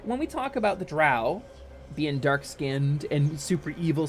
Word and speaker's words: drow: called the it it's it's spelled d-r-o-w in transliterations but it's pronounced like Dro or dro uh and